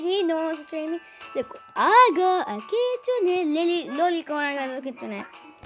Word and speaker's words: kitsune: By the way, guys, that's how you pronounce it, kitsune.